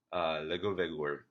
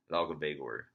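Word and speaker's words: Laugavegur: Well, it's pronounced close to Legovegur, Legovegur, which I'm probably still mispronouncing, but it's not Lagovegur. It's close to Legovegur, something like that.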